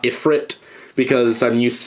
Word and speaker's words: Ifrit: said another Magnum but uh I keep saying IFR and not iFit because I'm used to saying it IFR because of uh danball seni when in fact